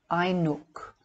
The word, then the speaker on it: Ainoch: This name is simply a disguised form of the original Irish word Ainoch, pronounced Ainook, meaning the sun man, signifying the solar body or the perfect man god.